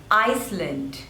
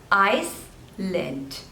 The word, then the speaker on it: Iceland: hungry Hungary next is Iceland there are two slavers and the stress is on the first one ice lent Iceland Iceland Iceland this one